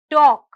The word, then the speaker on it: talk: l is silent next word talk talk talk hear the letter l is silent the next word is